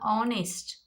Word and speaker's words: honest: Now honest, O. So whenever you get O sound, the H becomes silent.